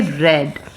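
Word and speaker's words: read: form को हम बोलेंगे रेड रेड का स्पेलिंग प्रोनंसिएशन रेड होगा स्पेलिंग तो यही होगा ठीक है आई रेड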